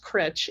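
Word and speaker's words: Cruit: of there it's called critch Island it's spelled cruet c-r-u-i-t but it's pronounced critch it's a nine hole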